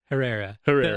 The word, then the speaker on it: Herrera: Herrera. I Herrera. was joking earlier, telling you, that's the real like Mexican way to say it. I can't roll my R's though, so All right.